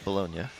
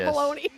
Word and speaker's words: Bologna: Bolognia. I want to say baloney. It's spelled the same way, but it's Bolognia.